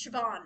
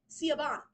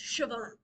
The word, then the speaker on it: Siobhan: Sio spelled out, it's it's not Sabon, it's Siobhan is how it's pronounced. But anyway, there's a name that's PR that's spelled S I O B A H N. Sabon, but it's not Sabon. It's Siobhan.